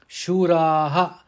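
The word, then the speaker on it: शूराः: Shuraha, it has to be pronounced Shuraha because it is appearing at the end of the pada.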